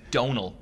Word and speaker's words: Domhnall: to spoil anything for anybody yet but it's donal it's do mah nà mo i know i mispronounced donal no I got that I just